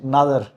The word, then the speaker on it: Nadar: Uh today with me is Nay. Yeah, you pronounced my surname wrong. no Nada. Take two. A D A R.